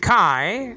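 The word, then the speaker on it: καί: Kai. Nowadays pronounced K in modern Greek.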